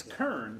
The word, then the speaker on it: Keirn: thank you you know nobody ever pronounced my name right in school growing up it's kern correct that's right okay it's spelled with k-e-i-r-n which doesn't make sense but i think it was a drunk ancestor getting off the mayflower